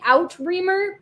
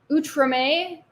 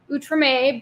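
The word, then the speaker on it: Outremer: the settlements in uh it looks like outreamer but I think it's pronounced utrame from 1254 to 1266.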